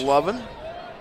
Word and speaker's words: Levin: That's Lovin. Spelled like Levin, but according to the pronunciations that we got, it is pronounced Lovin, as you said, correct, Michael?